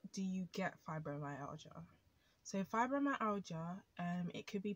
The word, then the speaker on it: fibromyalgia: happen out of nowhere so how is it pronounced fibromyalgia and it's spelt f i b r o m y a l g i a fibromyalgia know a lot of people um even people